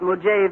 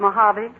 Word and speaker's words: Mojave: You should have looked up the pronunciation of some of those words. Real Death Valley prospectors don't call it Mujave, Mr. Newton, but Mojave.